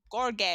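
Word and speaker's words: Gheorghe: It's spelled George, but it's pronounced like Gorge or something beautiful.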